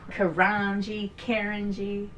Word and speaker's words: Carangi: Carangi.